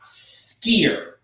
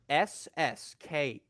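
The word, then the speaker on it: Sskeer: And no, that's not me like having like a speech impediment. That is literally how his name is pronounced. It's Skier. Ssker. The SS being specifically pronounced. Skier.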